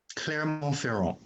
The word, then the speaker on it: Clermont-Ferrand: Clermont-Ferrand. Clermont-Ferrand. Thank you. For better English pronunciation.